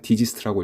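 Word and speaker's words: DGIST: 대구광역시 테크노폴리스의 설립된 국립대학교입니다 약칭은 디지스트라고 읽으며 지스트와 마찬가지로 최상위권 연구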